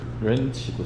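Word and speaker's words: wrench: 렌치도 샀어요. 렌치는 W가 묵음입니다. 묵음이고.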